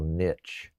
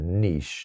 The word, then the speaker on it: niche: I mean, we are the narrowest of all niche or niche, depending on how you want to pronounce it, live streaming shows.